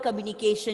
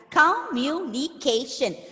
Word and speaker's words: communication: stress ah communication exactly communication so the word communication has five syllables and putting the stress on the penultimate syllable ca cup occasion so